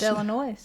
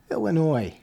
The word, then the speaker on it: Illinois: so um and it's Illinois Illinois there's no the s is silent get it right it's